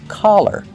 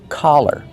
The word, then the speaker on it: collar: Make the open ah sound. Ka, collar, collar.